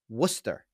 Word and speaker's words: Worcester: west and the South when you see w-r-o-r-c-e-s-t-e-r Mass that's Worcester okay they're coming in at